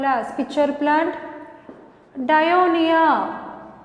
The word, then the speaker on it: Dionaea: Just look at the pronunciation, listen carefully. Nepenthes. Nepenthes commonly called as pitcher plant. Dionaea, it's commonly called as sundew plant.